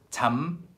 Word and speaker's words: 잠깐만: 잠깐만, 잠깐만, 잠깐만, 잠깐만. But because 잠 is followed by 가, 잠깐만, it kind of becomes like, where's the cursor? 잠깐만.